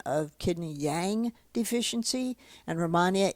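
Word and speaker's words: Rehmannia: of the by the way I didn't mention Romania eight Romania eight you can get in pill form Romania is spelled r-e-h-m-a-n-n-i-a and Romania eight is a herbal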